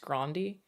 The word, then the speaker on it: Grande: is white she's Italian her last name is actually supposed to be pronounced Grande um great job there